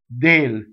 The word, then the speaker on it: del: the next word so if you look at the way I have it written out it's all Dale so there's a double D starting Dale and the way I